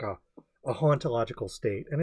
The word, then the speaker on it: hauntological: And he says the H is silent for haunt in French.